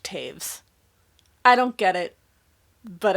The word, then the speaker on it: Toews: I have a review that I will link up above where I say Miriam Toes, and I have learned recently that her last name, Toews, is pronounced Taves.